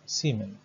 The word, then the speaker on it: Siemens: Siemens es un apellido alemán. Se escribe así y se lee Siemens.